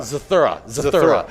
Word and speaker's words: Zathura: Okay. Zarther. Zathura? And Zathura. Zathura. Okay. That's how you say it.